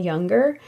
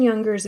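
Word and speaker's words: Junger: book written by Sebastian younger that's spelled j u n g e r his book is called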